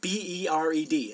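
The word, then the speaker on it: ברד: But Hebrew H1260 is the word bered, B-E-R-E-D. It's actually pronounced bered, and it means hail.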